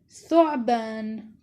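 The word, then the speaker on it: ثعبان: Tha with dhamma is pronounced as thu. Example, thu'ban. The tha here is in the beginning.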